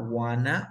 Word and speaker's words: wanna: Ah, wanna es la forma en la que pronuncian el want to.